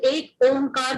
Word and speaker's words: Ek Omkar: Again, I will stick to that the pronunciation is Ek Omkar because you may not say Ek Omkar.